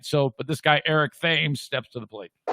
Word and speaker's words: Thames: but this guy eric thames steps to the plate eric's last name spelled like the english river but not pronounced thames thames split all